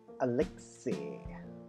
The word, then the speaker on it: Alexei: Apparently, the name is pronounced Alexei.